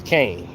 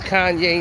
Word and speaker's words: Kanye: it in the rhine my name is kanye not kane everybody must pronounce it